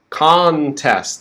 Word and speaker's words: contest: this word quite easily contest stressed is on the first syllable kong kong right that's like on with a k or khan contest okay that last ending sound is we need to go from the s to the t contest okay and then the